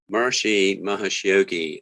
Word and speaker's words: Maharishi Mahesh Yogi: Maharishi Mahesh Yogi.